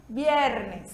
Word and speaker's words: viernes: bebê é lindo e tem o som da nossa letra b de bola então a gente pronuncia vierny Tá certo e sábado